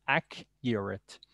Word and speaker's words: accurate: the accurate ack uret the true pronunciation is ak uret i cannot give you